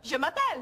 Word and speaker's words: je m'appelle: Je m'appelle.